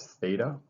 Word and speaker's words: theta: So the first one is coterminal, and so it says find a angle, and the way you pronounce this symbol right here is theta.